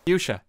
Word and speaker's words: fuchsia: much done as i can how do you pronounce fooshka by the way how do you actually pronounce that because people were laughing at me earlier fuchsia okay thank you i've pronounced that wrong on